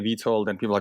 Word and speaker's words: Vito: Yeah, even though my nickname, even back when I was growing up back in Europe, is Vito, or so like Italians, or some of my friends would pronounce it as like Vito, more like a Vido, or pronunciation. But, my friends in Europe would say Vito. It's like in Italian, Vittorio, Vito.